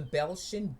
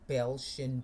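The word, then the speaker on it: Beltian: Si the six the the Belchian bodies seem to be perfect for that single purpose. Look at a picture on the internet of Belshian bodies and that's spelled B E L T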